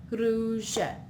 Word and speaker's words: rouge: In this case, it's an A, so it's k, Here we have U makes it sound oo, oo. So with the R in front, it's r, ru, rouge.